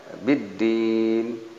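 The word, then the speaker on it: بِالدِّينِ: Kemudian biddin ini ada tasjid, ini alif lamnya tidak muncul. alif lam samsiah namanya, sehingga dibacanya biddin ini di ujung kalimat,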